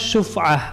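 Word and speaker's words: شفعة: Itu adalah beliau katakan sini kitabus syuf'ah. Apa syuf'ah? Syuf'ah itu shin, fa, ain dan ta marbutoh. Jadi bacanya syuf'ah, syuf'atun.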